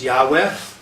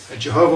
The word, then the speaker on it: Yahweh: God's name, as it says in the Torah, is YHWH, sometimes pronounced Yahweh. Okay? Jehovah Witnesses pronounce it Jehovah or Yehovah, but that's not really a correct pronunciation.